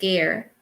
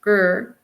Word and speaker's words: ger: meaning home in mongolian usually pronounced ger without the long vowel almost ger it is the mongolian